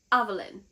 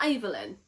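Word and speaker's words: Aveyard: It's Avelin, not Evelyn.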